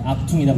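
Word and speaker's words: Achtung: 저게 뭐냐 그랬더니 악퉁이라고 읽는다고.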